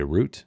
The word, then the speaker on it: route: interesting CU I know some people say rout and not route but I said it how Jeff V says it because it Rhymes without I follow dry riverbeds